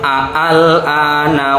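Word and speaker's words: آلْآنَ: Nanti ada pendapat yang membacanya itu seperti ini, al-ana wa qad asaita wa qablu wa kunta minal mufsidin. Jadi hamzahnya nanti double, betul.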